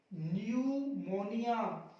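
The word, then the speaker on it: pneumonia: एन देखिए ये रहा एन, पी आया कर दो चुप, न्यूमोनिया, न्यूमोनिया, न्यूमेटिक्स।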